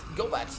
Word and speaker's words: Gobat: And last but not the least, Gobat, the rat shaman, and her little rats.